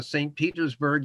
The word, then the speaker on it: St. Petersburg: It's St. Petersburg, even when it's spelled in Cyrillic, because he took the name